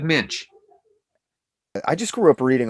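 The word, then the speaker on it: Moench: Is it Doug Monk? Doug Minch.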